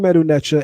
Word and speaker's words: Medu: A person may ask well if the stick is already equivalent to md why would the hand be there which is a d as well? That's because of what's called a phonetic complement.